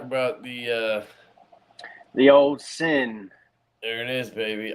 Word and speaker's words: Syn: the uh the old sin there it is baby i always want to call it the sign because you spell it with a damn white i know every time